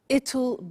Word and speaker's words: it'll: I said tomorrow it'll be cold. You notice how it will becomes it'll. It'll. Strange pronunciation, yeah?